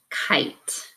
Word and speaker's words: kite: This closed syllable word says kit, but the vowel sound changes with that silent E. Now I have the word kite.